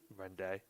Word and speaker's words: Rende: Now, I know, at least I think, that capital D-E is D. Will Joe pronounce it Rendy or Rende? Rende.